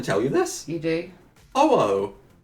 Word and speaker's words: Ho-Oh: Ho-oh. That's why I said ho ho. Ho-oh. Oh ho. Oh. H-O Oh. dash O-H. Ah, right. Ho, Like I ho. said, you always say it wrong.